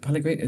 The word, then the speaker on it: Pellegrini: Pellegrini? That's how you pronounce Yeah.